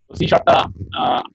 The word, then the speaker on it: C#: তো আপনি যদি শুধুমাত্র এই একটা প্রোগ্রামিং ল্যাঙ্গুয়েজ জানেন, তো আপনি সি শার্পটা সি হ্যাশ লেখা দেখতেছেন আপনারা, এটারই উচ্চারণটা হচ্ছে সি শার্প।